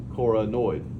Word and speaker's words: coronoid: Because when I want to accidentally call it a coracoid, I'm like, wait a minute, that doesn't rhyme with annoyed. So annoyed, coronoid, not coid.